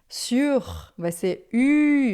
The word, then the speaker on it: sur: Presta atenção na diferença da pronúncia. Sur, assim, o nosso U, que é uma boca de U e fala I, fica sur ou de su.